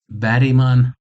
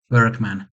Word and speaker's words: Bergman: And with the third director as well, who is Ingmar Bergman, or as you English speaking people mispronounce it, Bergman.